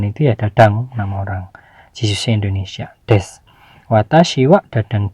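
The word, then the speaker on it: 実習生: Dan yang ketiga, watashi wa aimu Japan no Jisuse desu, ini bacanya Jisuse ya.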